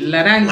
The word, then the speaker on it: laranja: Escucha la pronunciación. Laranja.